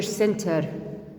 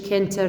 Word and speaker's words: center: ورا السي I city or teacher center إجا ورا سي teacher E center مش كنتر teacher bicycle إجا teacher